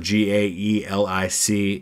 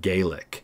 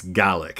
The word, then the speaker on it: Gaelic: the language is Gaelic in Scotland it's gallic it's spelled exactly the same and it's a lot